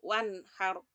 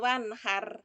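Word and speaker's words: وَانْحَرْ: Nah, wanhar pakai roknya agak tebal, nggih, wanhar. Nah, bukan wanhar, bukan begitu, tapi wanhar.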